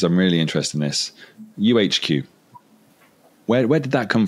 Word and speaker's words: YouHQ: we're speaking to people we say uhq and they always spell it with a u and then H you know it it if you're looking for our website it's y u HQ we are English we spell it y u yeah amazing has